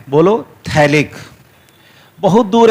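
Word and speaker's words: phthalic: तो याद रखना इसको थैलिक एसिड बोलते हैं। क्या बोलते हैं जी? थैलिक acid. pH यहां पे साइलेंट रहता है, ठीक है।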